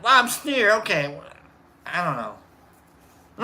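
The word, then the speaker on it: Lobsteir: Except it's lob and then steer. Like S-T-E-I-R. Lobster.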